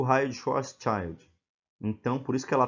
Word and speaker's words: Schwarzschild: seja a pronúncia correta mas eu eu vou pronunciar desse jeito raio de schwarzschild esse raio-x westshire ilustrados nessa figura aqui ó